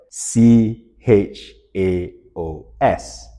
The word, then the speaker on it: chaos: And in front of this DVD, it spelled out the word c h a o s.